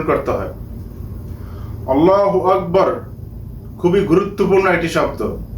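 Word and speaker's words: الله: লাম খারা জবর ল আল্লাহ হা পেশ হু আল্লাহু বন্ধুরা আমি এখানে আল্লাহু বলি নাই কেননা আল্লাহ নামের লামের ডান পাশে যদি জবর অথবা পেশ হয় তখন ল উচ্চারণ হবে মোটা করে আল্লাহ হবে না এই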